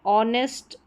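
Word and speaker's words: honest: कुछ अन्य वर्ड्स में एच साइलेंट रहता है, जैसे कि यहाँ पर है ऑनेस्ट, और आर या आवर करके भी इसको प्रोनाउंस करते हैं, और ये ऑनर।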